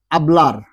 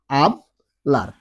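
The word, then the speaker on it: hablar: আছে অর্থাৎ এইচ আছে, ওই এইচটা কিন্তু কখনো উচ্চারণ হয় না। আমরা এটা আগের ক্লাসে বলেছিলাম, তারপরে একটা উদাহরণ দিয়ে শুধু আমরা বলে দিচ্ছি এই ক্লাসের মধ্যে। যেমন দেখেন আবলার, আবলার, আবলার মানে কথা বলা।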